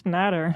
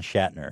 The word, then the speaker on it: Schnatter: As you mentioned, name wrong. It's Shhat. No, it's Schnatter. I know, but Papa John Shatner is way funnier.